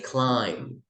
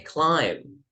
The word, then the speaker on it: climb: You say climb. Climb. Okay, one second. All right, you say climb. Climb. Walang B, that's climb.